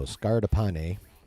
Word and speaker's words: Scardapane: scardapane pan I'm guess I'm trying to pronounce it in an Italian manner because of the first name it sounds Italian so Dario and most drance languages have a lot of pronunciations the same so and Italians really close to both Spanish and Portuguese as well so scardapane that's why I'm going with that whose recent credits include